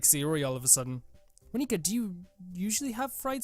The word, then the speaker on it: Monika: Monika. That's not how you say my name at all. That's not— wait, so it's not how— so it's Monika.